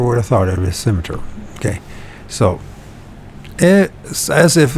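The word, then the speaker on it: scimitar: symmet symmet no schimer sounds like cimeter so the C is silent and meaning of a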